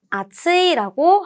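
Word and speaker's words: 厚い: 발음 아츠이라고 합니다.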